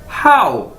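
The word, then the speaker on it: 好: अदा कैसे करना है, हाउ। जिस तरह आप इंग्लिश का वर्ड बोलते हैं हाउ, तो इसी तरह आपने इसे बोलना है हाउ।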